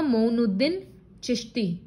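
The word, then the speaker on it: Moinuddin Chishti: Shrine of Sufi saint Khwaja मोइनुद्दीन चिश्ती, इसका pronounce होगा मोइनुद्दीन चिश्ती।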